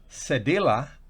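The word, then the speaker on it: cedilla: que son los corchetes cedella así se pronunciase de la que en español se pronuncia sevilla o es es hace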